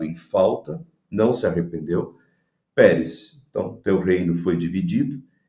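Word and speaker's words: Peres: Então, ele usa a palavra Pérez, que é o singular de Parsim, e a pronúncia da palavra Pérez soa como Pérsia em aramaico.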